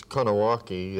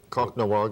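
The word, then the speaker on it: Kahnawake: call it co gonna it's it's Cana walkie to the mohawk people conch noir is the other way that it's pronounced we broadcast from there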